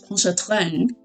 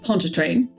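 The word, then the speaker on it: Pontchartrain: There's been at least three different pronunciations of pon train from throughout the game. Um the narrator has more of the French poncha train. Um most people ponch train and Mosley here one time said ponchar train like nope no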